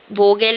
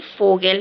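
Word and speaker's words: Vogel: वोल नहीं फोगेल है यह।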